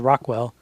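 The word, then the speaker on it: ROQL: have a query language it's actually pronounced Rockwell um some Oracle people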